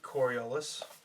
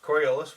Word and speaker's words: Coriolis: Generations later, a ship arrives, and that ship is the Coriolis. Did I say it right? Yep. Coriolis, which they gut and turn into a space station, but we'll come back to that in a second.